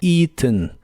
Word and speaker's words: eaten: en inglés es eaten se pronuncia con un sonido I largo al principio la a no se pronuncia y la e del final es muy suave eaten eaten a ve incluso escucharás que pronuncian el final haciendo un golpe de aire con la nariz y suena como it ETN el verbo terminar